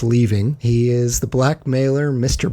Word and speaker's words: Lee Ving: I am pronouncing his name correctly. It's Leaving.